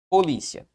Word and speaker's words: polícia: a separação assim ó polícia qual é a sílaba tônica de polícia perceba que a sílaba tônica é uma posição que paroxítona Qual é a terminação